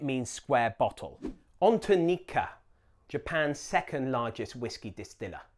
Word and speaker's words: Nikka: On to Nikka, Japan's second largest whiskey distiller. In Japanese, it's Nikka, not Nika or Nika.